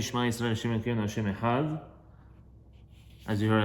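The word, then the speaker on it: אחד: So when you say Shema Yisrael Hashem Elokeinu Hashem Echad, as you heard, I just said Echad. So that's the right way to say it, because first of all, it is the Oraita.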